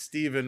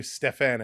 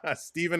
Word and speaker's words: Stephen: It's pronounced Stephen. My dad spelled it with the PH. Gotcha. Okay. Thank you. Stephen, I will try to remember that and not call you Stefan anymore. Stephen, it is.